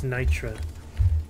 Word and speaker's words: Nitra: Not Morkite, it's Nitra.